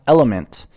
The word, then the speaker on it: LMNT: that yeah for sure element T pronounced element is a tasty electrolyte